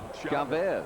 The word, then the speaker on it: Chavez: Thank heavens they started pronouncing his name Chavez.